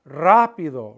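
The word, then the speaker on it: rápido: why is it there it's telling you when you pronounce the word to stress the a rapido rapido if it weren't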